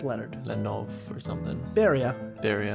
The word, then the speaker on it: Beria: Beria. What was his first name? How do you say it? It's Beria.